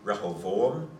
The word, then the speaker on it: Rehoboam: it doesn't really, in Hebrew it'd be Rehoboam and Jeroboam, So be, or Yerovoam. so there would be an vowel.